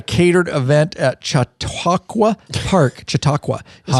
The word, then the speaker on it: Chautauqua: uh had a catered event at Chautauqua Park Chautauqua that's how you say it in Hot Springs